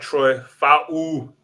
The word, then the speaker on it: Troy Fautanu: All right, they went and got Troy Fautanu.